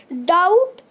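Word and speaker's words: doubt: फिर ऐसे वर्ड्स है टी जिसमें टी से पहले बी आता है और बी साइलेंट होता है। तो ये तीन ही वर्ड है। डाउट मतलब संदेह।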